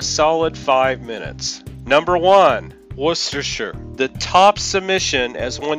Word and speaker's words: Worcestershire: Shire what's dis here Worcestershire one users suggest it's that cest in the middle that mrs. people up if you break it up like worst or sure the pronunciation makes sense others suggest similar bridge